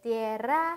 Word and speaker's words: tierra: 네, tierra 할때 R 굴리는 발음 잘 연습해 주시고요.